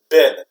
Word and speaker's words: been: been and so it's a regular pronunciation it's pronounced bin not being okay how have you been no